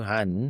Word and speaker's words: Johan: Han, as in honey, I shrunk the kids.